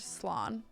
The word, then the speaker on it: slán: One dialect pronouncing it is Slán.